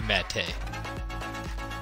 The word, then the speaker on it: Mete: But that's how you say his name. Mete knocked her out hard.